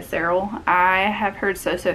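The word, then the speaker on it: Serle: in five years by rebecca sale well that's not how you say her name rebecca sarrell i have heard so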